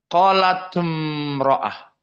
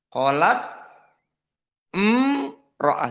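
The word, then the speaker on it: قالت امرأة: Maka bagaimana bacanya? Qalat imro'ah. Hakada. Iya bacanya gitu. Qalat imro'ah.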